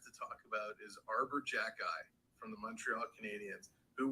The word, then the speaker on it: Xhekaj: One guy we have to talk about is Arbor Jacki from the Montreal Canadiens, who, when you look at his name, you think, how on earth can we pronounce it?